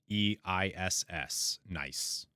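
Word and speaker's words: gneiss: think nice is metamorphic g-n-e-i-s-s nice I think I think it's pronounced nice uh and then okay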